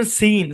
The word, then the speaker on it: scene: এস সি একসাথে থাকলেই যে সি সাইলেন্ট হবে ব্যাপারটা এরকম না, পরে ই অথবা আই থাকতে হবে, চেক মারতে হবে ভাই। সূত্র মনে রাখতে হবে এবং সেই সাথে প্রচুর পরিমাণে প্র্যাকটিস করে মুখে সেট করে নিতে হবে। এই শব্দের উচ্চারণ সিন।